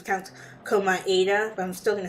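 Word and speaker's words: Komaeda: class trial that said that his name was pronounced his last names count koma ADA but I'm still gonna say comida because that's how I've been pronouncing it this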